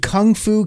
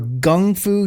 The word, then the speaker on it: Kung Fu: So if you've ever noticed, like sometimes you'll see Kung Fu, Kung Fu, or Gung Fu, Gung, which is rarer, but it is spelled that way. It's because when it translates over, both are actually correct.